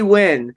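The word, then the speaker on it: Nguyen: she's boxing b b win uh how do you say if it's NG YN you know how something like how do you pronounce that win right win win yeah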